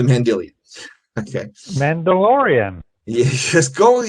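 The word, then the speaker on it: Mandylion: I originally called it the Mandelion. It's not the Mandelion, it's the Mendelian.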